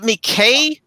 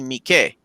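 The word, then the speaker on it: Miike: pronounce uh mikey so is it mckay because in japanese they wouldn't pronounce the e as an a right it would be mikey it's takashi mikey so a a y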